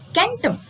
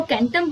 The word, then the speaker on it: कैंटम: अब कुछ भाषाएं ऐसी है जिसमें इसका प्रोनाउंसिएशन है सेंटम और किसी में है कैंटम।